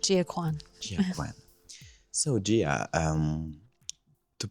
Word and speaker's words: Gia Kuan: Today I am with Gia Kuan, right? Yes. Is it the right pronunciation? Correct, Gia Kuan.